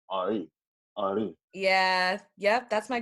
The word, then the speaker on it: Henri: My full name is Henry, and the Haitian way you pronounce Henry, or the accent way you pronounce Henry is Henri.